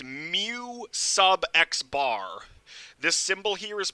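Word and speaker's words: μx̄: this symbol is pronounced mu sub x bar this symbol here is pronounced mu sub x bar it's because it's a subscript mu sub x bar is how you pronounce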